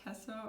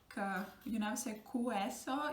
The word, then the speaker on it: queso: So you never say queso, you say queso, because it's a Q-U-E, just like it was with guerra, yeah, guerrero. So G-U-E and Q-U-E, it's gonna give you a sound, ge and ke.